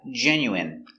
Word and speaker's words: genuine: good next we have genuine so remember the INE is pronounced in genuine genuine is 100%